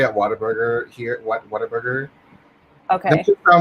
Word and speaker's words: Whataburger: I mean, I've never had In-N-Out, and I've never had Whataburger. Wait, how do you pronounce it? Whataburger? I mean, I grew up saying Waterburger, like Water. Waterburger. Like it's a burger made of water.